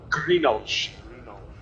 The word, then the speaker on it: Greenwald: Greenolch. As he's pronounced.